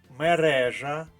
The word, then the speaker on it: мережа: наша правильна відповідь перевіримо мережа і отаман обидва слова мають наголос на другому складі правильна відповідь в позначили